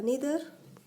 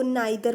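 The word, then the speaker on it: neither: वो आ जाएगा आपका नीदर। ठीक है, बचपन में हम लोग इसको नाइदर पढ़ते थे, आइदर पढ़ते थे, ठीक है, यही प्रोनाउंस करते हुए बड़े हुए हैं।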